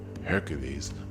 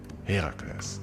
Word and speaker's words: Herakles: wife Hera, which is why it is important to not call him Hercules, but Herakles. Well, to be precise, it's Heracles and Hera is Hera, but you know, let's keep it simple with the pronunciations and call them Hera and Herakles.